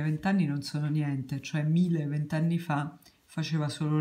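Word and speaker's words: Miele: la pronunciate sicuramente viene però la pronuncia tedesca di questa marca che è tedesca è famosissimo storica e mille si dice mille all'ora mille si vanta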